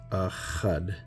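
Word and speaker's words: אחד: But this is, for example, Achad, right, in the Paleo, and then this is in the Syrian, and then that's how it's pronounced, Achad.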